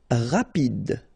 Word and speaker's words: rapide: Rapide. So same thing for final E. Don't insist on it. Just pronounce this D.